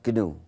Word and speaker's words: GNU: il est toujours Gou donc il faut le dire Gou il y a une